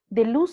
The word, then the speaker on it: Deleuze: Deleuze se escribe D-E-L-E-U-Z-E, Deleuze.